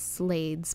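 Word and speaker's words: slaad: He was taken by a dragon after a very lengthy attack with some slods, which I've heard people pronounce as slades, but they're like these tall poison frog things.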